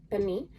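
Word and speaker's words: pernil: way to can this and this is called Pani it is spelled p-e-r-n-i-l um but is pronounced Beni and this is a slow roasted pork and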